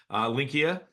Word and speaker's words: Linqia: It's kind of like, I got to think Expedia in the back of my head with the IA at the end. Linqia. Tell us a little bit about Linqia because this is new for our community.